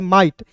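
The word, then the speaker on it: might: माइट। एम का म होता है और आई जी एच टी को उच्चारण आई के रूप में करते हैं तो हो जाता है दोस्तों माइट।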